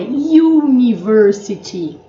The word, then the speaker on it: university: Mas aí você vai perguntar, se ao pronunciarmos university, o som do U não é de vogal, é university. University, é uma semivogal, tá?